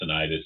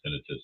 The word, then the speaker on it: tinnitus: I still say tinnitus, even though it's properly pronounced tinnitus.